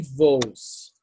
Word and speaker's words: voos: Então, aqui, essa palavra voos, né? Tem dois O, mas o segundo O, né? É pronunciado como um U.